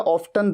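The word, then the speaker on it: often: You would be going to Mussoorie अक्सर के लिए, वेरी ऑफन, या फिर अक्सर के लिए ऑफन या ऑफ्टन, दोनों तरीके से प्रोनाउंस किया जाता है।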